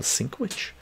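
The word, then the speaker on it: Sienkiewicz: Someone said how to pronounce this. Bill Sinkwich.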